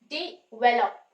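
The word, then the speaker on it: develop: कोशिश करो डिवेलप डिवेलप अब डी पे स्ट्रेस नहीं है स्ट्रेस जो है व प आ रहा है व साउंड के ऊपर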